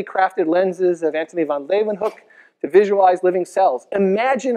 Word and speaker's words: Leeuwenhoek: L-A-Y, lay, ooh, then, they pronounce it with a V, hoek, Leeuwenhoek. Anthony van Leeuwenhoek.